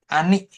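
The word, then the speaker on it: 兄: Nah, ini ya. Ani bacanya. Kakak laki-laki. Ani.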